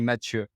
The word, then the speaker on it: Matthieu: That would be Matthieu.